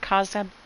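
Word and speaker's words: Khazad-dûm: Yes, it is the Bridge of Khazad Dûm.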